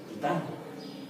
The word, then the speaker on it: Titán: Titán, con acento en la A.